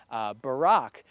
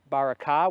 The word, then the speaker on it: Barak: You may have heard it in the past pronounced as Barak. But when we think of the name Barak in our country and in our day, it comes from the Hebrew word barakah, which means blessing.